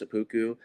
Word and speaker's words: SEPPUKU: If you could just speak on the documentary and then the fashion brand itself of yours, SEPPUKU, what that means to you. Yeah, it's pronounced seppuku.